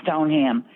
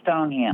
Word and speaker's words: Stoneham: I'm just telling you, the proper pronunciation is Stoneham.